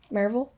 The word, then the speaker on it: Maryville: Maryville. How do you spell it?